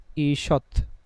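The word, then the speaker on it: ঈষৎ: যেমন একটা শব্দ দেখেন আমরা বললাম ঈশৎ হ্যা এখানে দীর্ঘই আছে। তো আমাদের নিয়ম অনুযায়ী কি? রস দীর্ঘ যেটাই থাকুক কি হয়ে যাবে? রসয়। তাহলে আমরা যখন এটার উচ্চারণটা লিখতে যাব ব্র্যাকেটে আমরা লিখবো ইসৎ এবং তয় নিচে একটা হসন্ত দিলাম।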